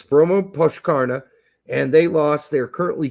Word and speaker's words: Brommapojkarna: You're like, how do you pronounce that shit? Talking to the wrong person here. Yeah, it's Bromma Pochkarna, and they lost.